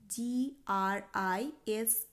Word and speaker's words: grise: gris, স্ত্রীলিঙ্গবাচক শব্দের ক্ষেত্রে হয় GRISE। grise, তো এই গেল কিছু প্রয়োজনীয় রঙের নাম এবং ফ্রেঞ্চ ভাষায় সেই রঙগুলির উচ্চারণ এবং পুংলিঙ্গ এবং স্ত্রীলিঙ্গ বিশেষে সেই রঙের উচ্চারণ এবং বানানের পার্থক্য।